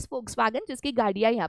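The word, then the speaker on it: Volkswagen: और एक मैं आपको एग्जांपल देती हूँ, आपको फोक्सवैगन पता होगा, ठीक है, बहुत बच्चे उसको वोक्सवैगन बोलते हैं, आप बोल सकते हो, बट उसका करेक्ट प्रोनाउंसिएशन है फोक्सवैगन, जिसकी गाड़ियाँ यहाँ पे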